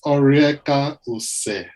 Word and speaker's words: Oriekaose: Okay, so the name is Orieka Ose. So I think the easiest way to say it is just to break it into 3. Okay. Orieka Ose.